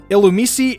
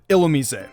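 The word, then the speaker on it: Illumise: of those common ones Allu me see instead of illa me say this is one of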